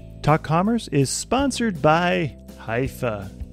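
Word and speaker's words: Hyvä: MN and contribute to their cause talk Commerce is sponsored by hia or as the Europeans say Hua or the right way to say it hufa is rapidly becoming the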